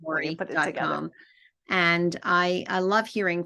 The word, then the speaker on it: Lourie: So, it's my first name, my full last name, Lori.